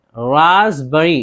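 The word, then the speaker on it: raspberry: इसी तरह रासबरी, रासबरी इसमें पी है लेकिन पी को नहीं पढ़ रहे हैं, रसभरी या फिर तूते फिरंगी।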